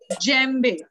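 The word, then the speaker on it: djembe: और नेक्स्ट आता है जेम्बे, इसको हम कैसे प्रोनाउंस करेंगे, जो मैंने ब्रैकेट में लिखा है देखो, उसको कैसे प्रोनाउंस करते हैं हम इसको, जेम्बे, मतलब अभी जो नाइजर,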